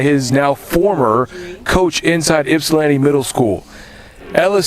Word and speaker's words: Ypsilanti: You say that it's pronounced Ypsilanti. Ypsilanti.